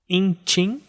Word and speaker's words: intim: Intim, que são 2 fechadas, vai cair na final, que é tim.